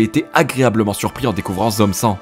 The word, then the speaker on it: Zom 100: Et c'est justement dans cette perspective que j'ai été agréablement surpris en découvrant Zom 100. Ouais, maintenant on le prononce à la française, ouais.